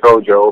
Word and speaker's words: Kodjoe: Can you actually give us the entire pronunciation of your name? My full name is Boris Frederick Cecil Tenate Oporte Kodjoe.